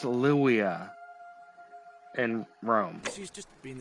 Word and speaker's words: Livia: or bone don't mind Livia she means well it would be pronounced louia in Rome she's just been in a bad place since V was basically pronounced like a w there's a reason why